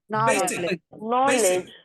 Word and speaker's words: basic: go rule one finished so any word if it is noun or adjective just remember this in your mind if it is noun or adjective two syllables put pressure on the first syel that's it finished let's